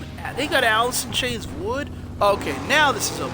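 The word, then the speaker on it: Would?: Which I think, oh nice, they got Alice in Chains Wood.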